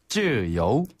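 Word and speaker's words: 自由: 또 나왔네요 또 나왔어요여네 한국 발음으로 우에 해당되는 것이 중국어로는 거의 대부분 여예네 그래서 우나 유로 되는 것들 그래서 자유 할 때이 유도 역시 여우로 발음이 됩니다 자 다시 한번여 쯔요여 쯔요네 그리고 자유 자재라는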